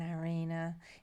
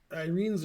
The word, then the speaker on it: Irene: Louie, Well, Louie, Louie, if they were dating Eric and Irina, did she pronounce it Irina or Irene? Irene's her name.